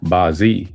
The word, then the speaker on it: Bazi: Bazi pronounced Bi in Cantonese and Bazi in Mandarin means eight characters.